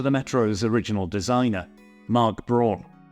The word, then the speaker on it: Braun: And they reached out to the Metro's original designer, Mark Braun, or as he's German, I guess it's pronounced Brown, to create this unique pair.